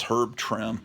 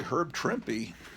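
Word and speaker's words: Trimpe: know it's like her I always thought it was herb trip and then I become aware well it's really herb tripy but how am I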